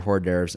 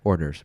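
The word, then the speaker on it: hors d'oeuvres: I say quarters yeah orders but there's a silent H in there right yeah but you're saying the H oh sorry about that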